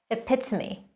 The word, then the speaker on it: epitome: think about it okay so you should say epitome it's a perfect example of something she's the